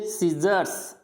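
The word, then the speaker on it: scissors: फिर सीजर्स, सीजर्स यानी सीजर्स क्या होती है, यानी कैंची, तो यहाँ पे भी सी प्रोनाउंस नहीं होगा।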